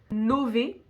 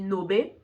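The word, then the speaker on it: nove: chop ça fait chingway Nové le V si tu fais espagnol tu vas penser qu'on dit Nobé mais non le V on prononce vraiment V en italien ok là je suis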